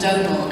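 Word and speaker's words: Domhnall: That's how you say it, No, Donal Gleason. Yes, a bit like Donut.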